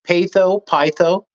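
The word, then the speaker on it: Peitho: alen go ahead about how I pronounce the name is it PA pytho hermes's wife yeah P you got it you nailed it yeah persuasion you got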